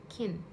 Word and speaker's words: kiln: The Kiln, Kiln, right? L is silent, or right, anyways, K-I-L-N, Kiln.